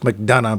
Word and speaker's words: McDonagh: digs him some Martin McDonagh. Huh. I think it's just McDonough, but there you go. Yeah, it's a Celtic last name, so sometimes you pronounce the last two.